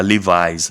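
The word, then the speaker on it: Levi's: é a marca leves Eu sei que não é leves que pronunci eu também não sei como é que é você sabe é livis a pronúncia correta eu não sei por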